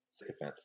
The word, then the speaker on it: sycophant: I don't even know how to say it, sycophant? psychophant? Uh-huh, sycophant, yeah.